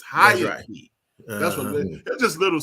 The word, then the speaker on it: Haiti: They pronounce it correctly. It is not Haiti. It's Hayati.